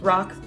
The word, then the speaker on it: RoC: compared to the rock I believe it's pronounced rocks ROC retinol eye cream and